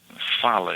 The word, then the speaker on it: fala: Is it like a v or f? Va uh f fa. So it's fa. Perfect. So it's v it's v o c e. Fala.